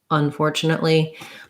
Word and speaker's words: unfortunately: break it down um unfortunately is going to have the primary stress on the four syllable but you may also in some cases stress the on a little bit because that prefix is important fortunately unfortunately but the main stress is going to be unfortunately so we'll see secondary